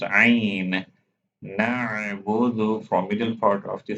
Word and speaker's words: نعبد: Don't forget to pronounce Ain. نعبد from middle part of the throat.